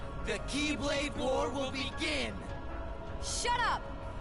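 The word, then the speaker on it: χ-blade: It's pronounced Keyblade. I know. But it's written as X-Blade, so... No, that is the Japanese letter key.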